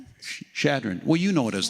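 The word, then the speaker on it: Chadron: Shadron.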